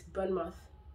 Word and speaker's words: Bournemouth: Bournemouth. A lot of people say pronounce it as mouth. It's Bournemouth. Bournemouth. Bournemouth. Not mouth. Not mouth.